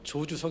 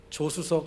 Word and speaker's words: 조주석: 다 이미 알고 계시겠지만 어제 이름은 어 줘 주석 입니다 저주 서 가끔 우리 에 저를 소개하거나 기도하시는 분들이 어 발음이 좀 어려워서 조수석 조수석 이렇게 할 때가 있습니다 그렇지만 저는 조수석 이라는